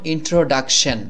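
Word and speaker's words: introduction: উচ্চারণ করছি আমরা কিন্তু এখানে এসে সি টা কিন্তু ক এর মত হয়ে গেছে এ বিষয়টিও খেয়াল রাখতে হবে যেমন ইন্ট্রোডাকশন ইমেইজিন ইমেইজিন মানে হলো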